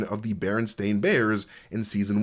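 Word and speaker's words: Berenstain Bears: the pronunciation of the Baron Stain Bears in season 1. And even though I said Baron Stain, I still say Baronstein on my free time because it is the Baronstein Bears.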